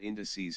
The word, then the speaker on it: indices: not English class, but indices has stress on the first syllable.